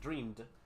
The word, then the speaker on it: dreamed: So, lo que hacemos es pronunciarlo con una D.